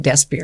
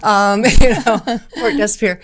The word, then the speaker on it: Port Desbier: Well, I was trying to make port, and most people say it Desbier because that's more the English version, and you're the first person to pronounce it correctly. Port Desbier.